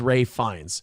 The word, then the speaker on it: Ralph Fiennes: He has confirmed this pronunciation himself noting it is a quote funky old English spelling. I'm sorry uh Roots, I I'm not trying to be fancy. It is Ralph Fiennes.